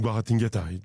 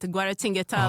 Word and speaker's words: Guaratinguetá: countries, and we have a big plants in Guaratinguetá, just in between Rio and Sao Paulo. Yeah, I'm so impressed with the way you pronounce it, Guaratinguetá, like so smooth.